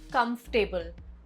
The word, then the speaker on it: comfortable: Word 13, comfortable, not comfortable. Comfortable.